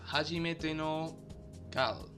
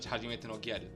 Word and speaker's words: Hajimete no Gyaru: Next we have Hajimete no Kal, even though probably in Japanese it's read Hajimete no Gyaru. The romantic comedy, wait, what?